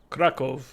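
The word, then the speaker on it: Kraków: And then, you know, Krakow, if you're saying it, is like Krakow.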